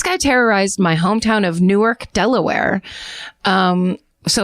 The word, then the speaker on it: Newark: This guy terrorized my hometown of Newark, Delaware. Um so it might not be pronounced Newark because you know how they do the stateto state name change thing.